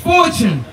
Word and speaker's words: Ivtune: So his name is spelled IVTUNE, but he pronounced that Fortune.